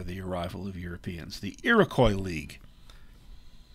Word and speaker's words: Iroquois: The Iroquois League, technically, the French pronunciation would be Iroquois. Their name for themselves is Haudenosaunee, so I go with the Americanized pronunciation.